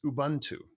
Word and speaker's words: Ubuntu: and I'm going to butcher the way I pronounce this but it's Ubuntu is the is the name of this this